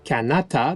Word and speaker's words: Kanata: Petite anecdote amusante, Cartier croyait que le mot « Canada », qui était en fait prononcé « Kanata » dans la langue iroquoienne, signifiait le nom de tout le pays qu'il s'apprêtait à visiter pour la première fois.